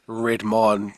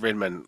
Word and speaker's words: Redmond: Redmond. Some pronounce it Redmond. I say Redmond.